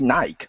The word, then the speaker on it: Nike: and they're like no it's meant to be Nike. Our company says it's Nike. He even says on the adverts over here and stuff of Nike. That's how it's supposed to be pronounced. Okay then.